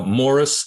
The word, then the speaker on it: Maurice: his name again uh Morris it's Maurice but they pronounce it more m-a-u-r-i-c-e Gleason g-l-e-e-s-o-n